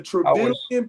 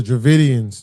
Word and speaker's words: Dravidians: The Travidian people. The Dravidians. Yeah.